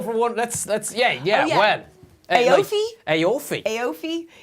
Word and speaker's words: Aoife: Aofi? Aofi. Aofi. Aoife. It's such a fabulous name, but yeah, Aofi.